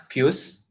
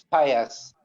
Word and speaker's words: Pius: opinion yeah go ahead puce please correct me if I'm mispronouncing your name yeah it's it's Pius yes oh okay thank